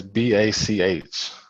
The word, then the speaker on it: Bach: name right but it's b a c h pronounced Bach like b a c k hey uh with a